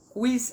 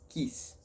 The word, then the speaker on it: quis: significa rato quadrinho 2 Quiz ass Lembrando aqui no latim toda a letra deve ter o seu som pronunciado então é quiz e não quis Quiz as Repita comigo